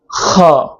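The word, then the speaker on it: خاء: খটা উচ্চারণ করতে হবে গলার শেষ ভাগ থেকে মৃদু চাপ দিয়ে খটা উচ্চারণ করতে হবে, যাতে মুখ থেকে বাতাস হালকা বাতাস বের হবে এবং গলার দুই ভাগ হালকা চাপ খাবে।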